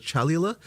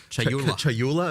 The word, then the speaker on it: Chayula: So the acolyte of, I always get this name wrong. The acolyte of is it Chalula? Chayula.